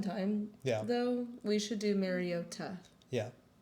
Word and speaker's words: Mariota: Like it's Mariota, not Mariota.